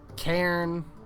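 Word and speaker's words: cairn: And I found another Kairen. That's how it's pronounced.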